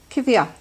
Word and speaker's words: Coimhthíoch: Tonight, Réamonn is reading Coimhthíoch.